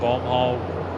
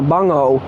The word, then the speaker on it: Bomb Hole: bomb hole exceptionally well I've actually pronounced that corner wrong a couple of times I actually call it the bung and uh The Bu hole right there you go definitely not a bung hole um someone awesome